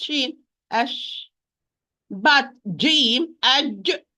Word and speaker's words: ش: When I pronounce Sheen, ash.